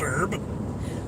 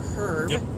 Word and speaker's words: herb: this is the question why don't americans say the h in herb well because it's not pronounced herb it's pronounced herb but then if there's